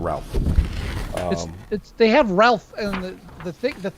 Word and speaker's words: Ralph: Like, it's Ray. It's like, what? It's spelled Ralph.